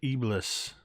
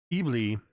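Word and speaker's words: Eblis: it is believed that ibless or Sue's me bleah I should say the S is silent E bleah are thought to be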